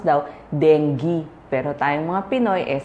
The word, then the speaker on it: dengue: Ah sa mga libro ang sabi nila ang pag-pronounce daw dengge. Pero tayong mga Pinoy eh sanay na sa dengge. So denge na ang gagamitin ko.